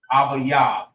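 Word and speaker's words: אביב: All right, so Abib, how you say that in Hebrew is Abayab. Abayab. That's how you say Abib in the Hebrew.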